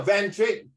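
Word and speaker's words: Van Dijk: How do I pronounce this person's name? Van Dyck. Huh? Yeah, Van Dyck.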